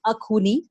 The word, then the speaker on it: Axone: एक तो फिल्म का नाम आई होप मैं उसको अच्छे से प्रोनाउंस करूं, इट्स अखूनी।